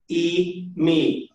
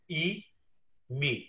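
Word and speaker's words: εἰμί: So the first person singular form is pronounced eimi. और जो first person singular form है उसको pronounce करते हैं eimi. Notice that an epsilon iota and an iota are pronounced exactly the same.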